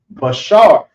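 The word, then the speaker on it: בשר: is the flesh and the flesh is pronounced as Bashar so be b sha then there's a ra these are connected so it will be B Shar so let's draw the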